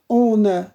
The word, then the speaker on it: honor: For example, in our, in honor, you can see that we begin from A, okay?